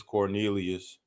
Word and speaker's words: Quornelius: Is Quornelius Radford in? It's Cornelius.